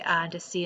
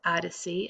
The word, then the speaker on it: Odyssey: For example, in this chapter, you will come upon the words Odyssey and Odysseus. They are respelled as A-D-C and O-D-C-us. The capital letters indicate which syllable to accent.